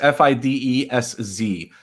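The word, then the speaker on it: Fidesz: doesn't speed us yes f-i-d-e-s-z yeah yeah and and hungarian sz is pronounced with an s it's a separate letter actually um so fides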